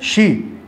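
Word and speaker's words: she: शी।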